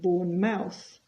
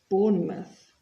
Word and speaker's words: Bournemouth: present continuous our playing and you'll notice the pronunciation here it's not Birmingham it's Birmingham and it's not born Mouse but Bournemouth what time's kickoff kickoff is the start of